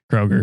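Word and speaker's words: Kroeger: Kroger.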